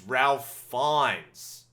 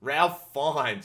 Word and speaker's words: Ralph Fiennes: It's Ralph Fiennes. Ralph Fiennes.